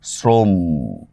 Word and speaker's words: শ্রম: উচ্চারণ থাকলে সেটা মানে যুক্ত বর্ণের মধ্যে কোন অ থাকলে সেটার উচ্চারণ ওর মত হয়। যেমন দেখেন আমি একটা শব্দ বললাম শ্রম। এখানে একটা যুক্ত বর্ণ আছে। তাহলে এটাকে আমরা কিভাবে করব? শ্রম এভাবে করব।